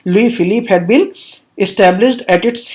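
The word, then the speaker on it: Louis Philippe: तो एक constitutional monarchy establish की गई और लुई फिलिप, you will have to remember this pronunciation, लुई फिलिप had been established at its head.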